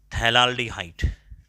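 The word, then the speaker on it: phthalaldehyde: ये benzene कार्बाल्डिहाइड, ये benzene 1,2 डाई कार्बाल्डिहाइड जो है ना उसका नाम ऐसा है थैलाल्डिहाइड। थैलाल्डिहाइड, पी को साइलेंट रखना है, थैलाल्डिहाइड।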